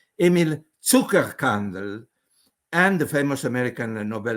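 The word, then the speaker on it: Zuckerkandl: molecular clock discovered by I'm using a German pronunciation because it was Austrian Emil Tucker candle and the famous American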